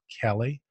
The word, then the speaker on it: Kele: acquiring so our first guest is the CEO kelly richard campbell and some people call Kili but it's actually pronounced Kelly Richard welcome to the show and